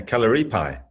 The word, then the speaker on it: Kalaripayattu: You're spreading the word of Kalaripayattu. I don't even know if I could say it properly. You said it right. Yeah, Kalaripayattu.